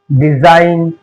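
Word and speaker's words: design: अब जी कब साइलेंट होता है? एन से पहले अगर जी आए तो जी साइलेंट है। एन से पहले जी आए तो जी साइलेंट है। जैसे डिजाइन गोम कोजन और ये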